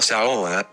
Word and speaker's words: saola: Number 4, Saola. The saola, pronounced sao la, meaning spindle horns in Vietnamese, is found in only